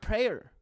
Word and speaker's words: prayer: you have problems saying prayer prayer prayer the the word has two syllables and you made it just one i said prayer prayer